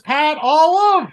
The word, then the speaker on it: Pat Olive: His name is Pat Olive. Yeah, because I mispronounced his name during the interview, but then Chad remembered that his name sounds like olives.